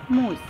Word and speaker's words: mousse: Don't confuse it with mouse. It is actually pronounced as mousse.